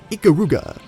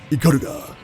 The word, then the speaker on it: Ikaruga: You've all been pronouncing it Ikaruga, when it should be pronounced Ikaruga. You always want to emphasize that first syllable.